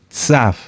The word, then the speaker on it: Tzav: Tzaf. Tzaf se escribe T de Tito, Z de zorro, A de Alberto, y V, o V de vaca, V, o V labiodental.